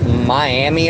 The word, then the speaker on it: Miami: is a town in this state called that is spelled Miami Oklahoma but it is pronounced miam and it's